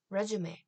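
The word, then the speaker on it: résumé: 표시 때문에 왼 숍이 로 발음하는 게 아니라 레쥬메 라고 발음 하구요 미국에서는 레즈 벨을 많이 쓰지만 캐나다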